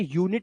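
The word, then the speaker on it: unit: अरिनल नहीं करना इसको इसलिए इसको अनट नहीं बोलेंगे इसे यूनिट बोलते हैं क्योंकि यू के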